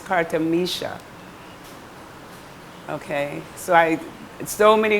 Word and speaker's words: Kartamisha: to spell it so it's not Carter misra it's Carter Misha okay so I so